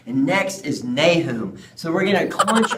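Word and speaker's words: Nahum: the baby Jesus that's right and next is nay whom so we're going to college or no to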